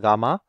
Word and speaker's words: gamma: now let's just jump straight into it given four circles uh this letter this is a greek letter it's pronounced as gamma gamma one gamma two